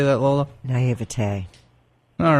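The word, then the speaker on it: naïveté: Now, explain to us a bit of what demonology is, because I guess in my naivety, how do you say that, Lola? Naivete.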